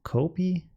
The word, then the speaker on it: copy: Might I suggest you pronounce the O in copy more like the O in Oldenburg? It's a short O and not a long O like in pronounce. Like copy.